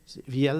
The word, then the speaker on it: Viel: là, C'est pas Viel? Viel. C'est pas un Québécois? C'est un francophone? Oui, ben, il est toujours prononcé Veal par les commentateurs.